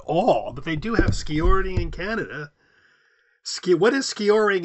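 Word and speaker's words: skijoring: Here they're saying ski jowering. I don't know how pronouncing it.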